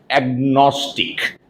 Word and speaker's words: agnostic: that sort of a person is called an agnostic agnostic let me write out the word here